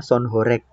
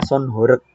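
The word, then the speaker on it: sound horeg: Nah, tahu kalau orang bukan orang Jawa sih bacanya sonhek. Kalau orang Jawa itu bacanya son horek.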